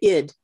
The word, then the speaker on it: Ed: was it was um ed ed was the name of the town and they pronounced it id in sweden and we just stopped